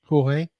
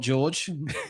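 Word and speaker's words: Jorge: you um Ma and jge jge not George that's if you had seen if you had seen the name George spelled with a j o r g e here in the Shire in England we would have said George well you would have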